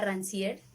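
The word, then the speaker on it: Rancière: he tomado un poco a rancier que se pronuncia así un poco y lo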